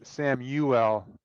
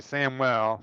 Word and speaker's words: Samuel: It's it's Sam Uwell Poor Spencer. It's a It's a three three syllable first name. Sam Uwell. Some people like to say Samuel. Samuel, but it's three syllables. Three distinct Samuel.